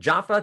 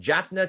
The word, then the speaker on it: Jaffna: Roman Dutch civil law, English common law, and Jaffa Tamil customary law. Roman Dutch civil law, English common law, and Jaffna Tamil customary law.